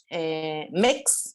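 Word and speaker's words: Mx: Bueno, también en Merriam-Webster apareció entonces el MEX, se pronuncia así, MEX como título honorífico.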